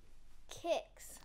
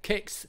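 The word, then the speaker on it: Kickz: Kix. That's it. Kix. Yeah. How do you spell it?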